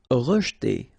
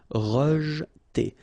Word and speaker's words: rejeter: Rejeter. Okay, so here the E is not really pronounced, so you get rej. Okay, so E pronounced like E. Rejeter.